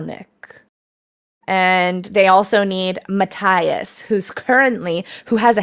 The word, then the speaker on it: Matthias: they say his name mattias mataius oh it's a silent h uh spelled with an h yeah m-a-t-t-h-i-a-s they don't say it with a t or with an a okay i should have